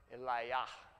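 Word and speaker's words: Eliyahu: to the locations themselves Elijah or maybe better pronounced Eliah what does his name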